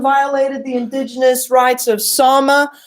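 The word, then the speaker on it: Sámi: So UN Watchdog says Finland violated the indigenous rights of Sama. How did they do that? If you look right here, it says they breached the political rights of its Sama it's pronounced Sama population.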